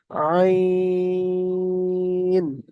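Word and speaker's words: عين: বড় কাসের মত রাউন্ড এই অক্ষরটার নাম হল আইন বুঝতে পেরেছেন দেখেন এখানে তিন লেখা রয়েছে তিন তাহলে এটা তিন আলিফ টান দিয়ে বলতে হবে আইন সবাই আমার সঙ্গে সঙ্গে বলেন শুধু শুনবেন না।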